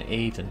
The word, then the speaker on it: Aden: I want it all it's a long a in Aiden so Aiden Aiden gotcha